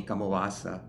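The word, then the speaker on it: kammavācā: It's given here the title Kamawa-sa in Pali, and in the Burmese pronunciation of the Pali, Kamawa-sa, because the text within it is a Kamawa-sa text.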